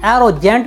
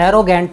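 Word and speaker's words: arrogant: साथियों, कहीं कहीं पर इसे एरोजेंट भी बोला जाता है, लेकिन जो सही प्रोनाउंसिएशन है वह एरोगेंट ही होता है।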